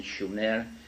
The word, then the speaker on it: Sumer: in a land called Sumer, in the correct spelling and pronunciation, Shumer, which meant land of the guardians, in southern Mesopotamia, which is today's Iraq.